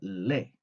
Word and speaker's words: les: vamos a tener le se va a pronunciar le A menos que la palabra comience con vocal Y ahí sí le vamos a escuchar esa s y vamos a decir